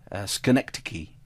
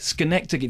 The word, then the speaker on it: Schenectady: I'm from New York, therefore I know the pronunciation of the town. Schenectady. Yes, but the film isn't called Schenectady. The film is called Synecdoche, pronounced Synecdoche to rhyme with Schenectady.